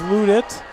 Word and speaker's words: Ludit: I got the pronunciation right. It is Ludit.